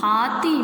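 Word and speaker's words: हाथी: How to pronounce this word? Ha ti. Hathi. Hathi means elephant.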